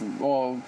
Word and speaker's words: Moog: I know it's pronounced Moog, but it looks like Moog.